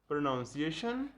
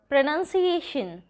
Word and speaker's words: pronunciation: सिनोनियम, synonym, synonym, एंटोनियम, एंटोनिम, एंटोनिम, ऑफ्टन, ऑफन, ऑफन, data, data, data, प्रोनाउंसिएशन, pronunciation, pronunciation, अवर, R, एंड, aunt, aunt, almond, almond,